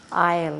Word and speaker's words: isle: a high silent island isle it's a poetic word for an island and as in ireland the s is silent it's a high tall